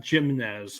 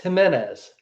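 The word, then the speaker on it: Jiménez: say his name Joe it's not jimnez it's it's Jimenez Jimenez yeah I see his name yeah I always want to say jimnez but Jimenez uh he's been solid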